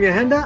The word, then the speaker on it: Yahenda: So I am Yahenda. I'm a musician. It's spelt Y-A-H-E-N-D-A because, and I say that because